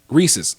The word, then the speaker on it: Reese's: Reese's.